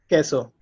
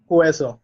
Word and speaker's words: queso: So this is pronounced queso. Okay. Yeah, so you don't pronounce u, you don't pronounce u there. So it's queso. Queso. So it's not hueso, it's queso. Okay.